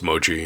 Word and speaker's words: mochi: I don't know how you pronounce that. Wonderful. It's mochi.